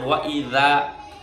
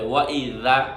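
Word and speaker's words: وَإِذَا: ওয়া ইযা বাংলায় লিখলে আমি লিখতাম ওয়া ইজা, রস্যই বরিকা জয় কাজা, ইজা। কিন্তু ইজা তো উচ্চারণ নয়। এইভাবে পড়েই আমাদের হাজার হাজার আমল হচ্ছে না, উচ্চারণ হচ্ছে না, উল্টা দোয়া কবুল হয় না। খেয়াল করে শুনেন, ওয়া ইজা। জাল বললে এভাবে লাগাতে হবে, ওয়া ইজা। আমি আপনাদের ভেঙ্গাচ্ছি না, এটা শব্দ উচ্চারণের সঠিক নিয়ম, এটা মাখরাজ, আপনি পড়লে বুঝবেন।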